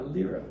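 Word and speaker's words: lyre: This is a a lera or some it's pronounced liar as well.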